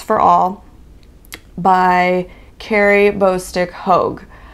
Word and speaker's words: Hogue: All by Carrie Bostick Hogue. I pronounced it Hague. I thought it was an A. I even said H-A-G-E. It is H-O-G-E.